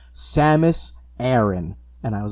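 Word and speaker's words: Samus Aran: name was aaron yeah i always just pronounced it aaron because it's just and then held off the tongue the most easily the smash brothers announcer really didn't help with any like childhood pronunciations because it was always like seymous when other m came out though and i know other m be damned by a lot of metroid enthusiasts um they finally in an official metroid game pronounce her name samus aaron and i was like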